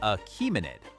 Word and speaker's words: Achaemenid: This is the Achaemenid Empire, pronounced Achaemenid, one of the great imperial systems of the